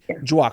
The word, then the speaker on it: Djwhal: Djwhal Khul. D'accord, Djwhal Khul. Djwhal Khul. Donc le D est silencieux, essentiellement, Djwhal Khul. Ok, donc Maître Djwhal Khul.